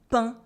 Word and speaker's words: pain: There is no A for the letter A, there is no E for the letter E, there is no N for the letter N. It is just le pain, le pain.